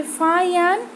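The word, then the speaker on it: Faxian: The Pilgrim such as फाशियन एंड ह्यूआनत्सांग, ठीक है ना, फाशियन यू कैन से फायन, एंड यहाँ पे शुएनज़ांग यू कैन से वानज़ांग, ठीक है, प्रोनाउंसिएशन में भी डिफर, राइट?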